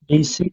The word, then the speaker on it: basically: কিন্তু এটার প্রোনাউন্সিয়েশনটা হবে এইভাবে যে Basically, বেসিকলি, বেসিকলি, রাইট?